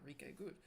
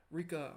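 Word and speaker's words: Ryka: Stars by Enrique uh not rike Rika Aoki I believe is how you say the name a message about you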